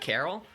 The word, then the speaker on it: Karyl: do another one with carl i want to do another battle with miss carl i know peccary pronounces it carol so like am i